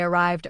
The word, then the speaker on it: arrived: Say they arrived early. There is no extra vowel after arrive. The voice in V continues naturally into D, giving the word one steady beat.